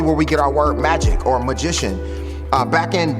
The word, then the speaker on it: magi: them instead of wise men it'll call them magi m-a-g-i it's really where we get our word magic or magician uh back in daniel time uh